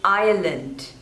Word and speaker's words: Ireland: Indonesia Indonesia next is Ireland Ireland so there are two syllables and the stress is on the first one Aya lent Ireland Island